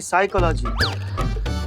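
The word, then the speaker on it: psychology: पिसाई का लागी साइकोलॉजी नहीं साइकोलॉजी प साइलेंट होता है तुम हो जाओ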